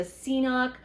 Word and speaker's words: CNOC: This is a CNOC or KNOC, however you want to pronounce it.